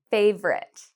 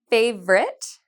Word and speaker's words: favorite: Favorite, favorite. How many did you hear? If you said favorite and you heard 2 syllables, you are correct. We do not say favorite. We say favorite.